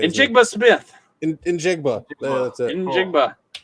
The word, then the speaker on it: Njigba: Njigba. That's it. Njigba, please.